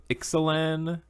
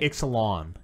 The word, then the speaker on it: Ixalan: Yeah, we're gonna do some of the new Ixalan set. I still don't know if I'm pronouncing it right. Ixalan. Ixalan? Yeah, I remember LAWN. Lawn. No, it's IXA.